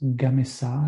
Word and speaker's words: Gamesa: their subsidiaries it's called cements gamisa I guess I I need to pronounce it sort of the Spanish way and uh it it